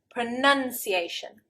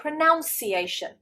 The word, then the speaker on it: pronunciation: we say pronounce pronounce however the noun is pronun pronunciation pronunciation and I can't tell you how many times I have heard English people say this wrong rather than saying pronunciation they get confused with the verb and they say pronunciation absolutely wrong I've even seen this